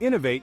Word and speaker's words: innovate: and finding fresh approaches let's break down the pronunciation in novate it's it's important to emphasize the second syllable no to say it correctly now let's see it